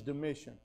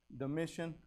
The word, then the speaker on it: Domitian: under uh i think he's the way you pronounce it is domitian or dom dom anyway i'm bad with names d-o-m-i-t-i-n is that how you say it brother bailey is that how you say his name domitian yeah whatever so now in in the book